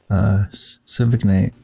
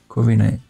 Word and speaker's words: Corviknight: I should bird evolve in the Civic Knight. Corviknight. Okay, something like that. I mispronounced it.